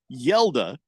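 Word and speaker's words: Hjalte: how do you get yela from HJ a l t the the the H is silent the J is pronounced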